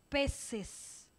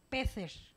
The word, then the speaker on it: peces: con c sin embargo cada comunidad pronuncia atendiendo a sus características dialectales en esta parte del mundo seguimos diciendo peces porque nuestra c delante de eidi suena como ese pero España mantiene peces como pronuncian pez mantienen peces porque de El singular terminado en s en Z pasa al plural con c y mantienen la pronunciación nosotros podemos seguir perfectamente